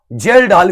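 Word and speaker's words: Kjeldahl: केजाल्ड विधि कहा जाता है इसको, केजेल-डाल विधि कहा जाता है। केजेल-डाल विधि, के इसमें साइलेंट है, जेल-डाल विधि भी कह सकते हैं।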